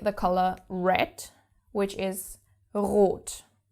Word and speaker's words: rot: Let's take the color red, which is rot. Now, the word is starting with the R, so of course you have to pronounce it.